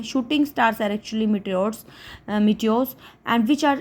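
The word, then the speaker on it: meteor: मीटियो क्या होते हैं, इनकी एग्जैक्ट प्रोनाउंसिएशन पर मीटियो मैंने सर्च किया था। ठीक है, मीटर्स नहीं बोले इसको, मीटियो।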